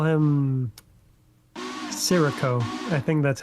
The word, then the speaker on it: Scirocco: Like I tried to say it like in Japanese, like Siroko. 'Cause it sounded more natural than trying to figure out it was spelled Scirocco.